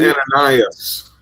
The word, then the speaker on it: Ananias: believe it's pronounced Ananias.